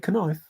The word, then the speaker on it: knife: Don't say knife.